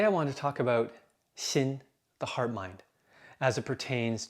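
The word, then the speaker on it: 心: Now, the interesting thing about this term, which I pronounce xin in Mandarin, is that it has different layers of meaning.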